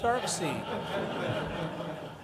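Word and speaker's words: Darkseid: say to me hey where do you pronounce it dark side it's dark see no it's dark side no no Jack pronounced it dark scene and a couple of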